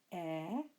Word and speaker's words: eta: What makes them a little bit more complicated than the second is that some first declension nouns end with an eta, the letter we pronounce air, and they have their